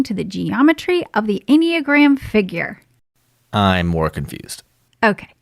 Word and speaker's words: enneagram: you about the enneagram the what enneagram honey it's uh pronounced instagram ah nope enneagram okay maybe this will